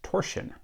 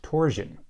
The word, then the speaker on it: torsion: At least one member of my audience thinks the word should be pronounced torsion, not torsion.